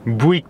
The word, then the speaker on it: Bouygues: Comment tu prononces ça? Bouygues Télécom.